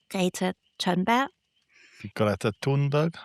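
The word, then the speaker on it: Greta Thunberg: Not sure how you say it in English. We say gater turnbug is what we were going to say because she's also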